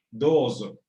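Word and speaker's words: どうぞ: La Z no es ni la del español ni la del español de España, no es, sino más bien un zumbido. Dozo. Es más bien zumbante.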